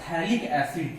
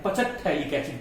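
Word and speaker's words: phthalic acid: थैलिक एसिड, थैलिक एसिड, सही pronounce कीजिएगा। बहुत लोग इसको पता है क्या पढ़ देते हैं, पचक थैलिक एसिड पढ़ देते हैं। तो ये पचक थैलिक एसिड आप लोग मत पढ़ दीजिएगा, इसको आप पढ़िएगा थैलिक एसिड। ये पीएच साइलेंट रहता है।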